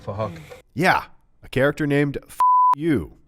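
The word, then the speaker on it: Phuc: His name is Fahak, but spelled with a PH, so it sounds like Fahak.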